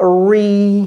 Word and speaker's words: reunion: Mais non, ça, d'abord, comment prononce-t-on ce mot? C'est pas facile, c'est pas évident du tout. Ce mot, c'est a reunion.